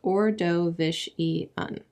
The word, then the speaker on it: Ordovician: usual we call this time the ordovician period pronounced orishan GE ologists found something interesting when they investigated